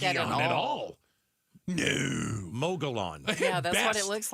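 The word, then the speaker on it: Mogollon: Mogulon. Yeah, that's what it looks like. M O G O L L L O N. But two L's, remember, are a like a Y almost. Get out of here.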